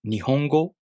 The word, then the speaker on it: nihongo: Then, the word, “nihongo,” takes 4 beats to pronounce.